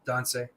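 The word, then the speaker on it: tânsi: But do you pronounce it like Donce or Tons? Right, Don, like a D, Donce.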